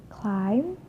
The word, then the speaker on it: climb: For the example, climb, crumb, lamb, thumb, jam, plumber. Climb, crumb, lamb, thumb, jam, plumber. So I'm not pronouncing the B, I'm just pronouncing the M consonant sound.